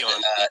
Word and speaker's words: Aeon: So Eon had, Eon. It's spelled a little different.